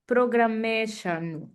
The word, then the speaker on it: programmēšanu: Jā, es kā agrāk, agrāk, jā, time aggrāk studēju programmēšanu. Ļoti labi, malacis. Jā. And I would only put the stress more on the first syllable.